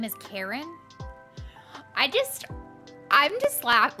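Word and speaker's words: Charon: things around the pond maybe it is pronounced like Karen Google says Karen okay this is Karen's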